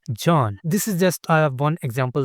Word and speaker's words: Can: So they write it as C A N but they pronounce it as J A N John.